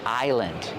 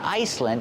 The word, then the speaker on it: island: this is a big island but it's not an island in the ocean it's an island in your kitchen remember the S is silent it's not Iceland it's Island this is a big